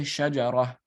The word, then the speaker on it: شجرة: So you just say shajarah, right? وقالت imra'atan, it would be imra'ah. Shajarah, right? It would be shajaratan, it would be shajarah. You would pronounce the ta marbuta as a ha, right?